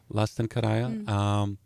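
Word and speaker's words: Lasten Kerääjä: Did I pronounce that right? Yeah. Lasten Thank Kerääjä, you. very well. Lasten Karaya, Child Collector, and you can find it on Bandcamp.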